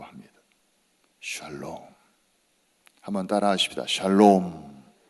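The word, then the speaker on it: שלום: 샬롬 한번 따라 하십시다 샬롬 발음 잘못하면 욕처럼 들리기도 해요 샬롬이 평화 평화 그러니까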